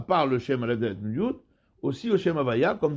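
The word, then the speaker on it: יוד: Il faut bien prononcer le Yud. J'étais Nikret Yafé. Parce que sinon, s'il va trop vite, il va avaler le Yud. Donc il faut qu'on entende le Yud.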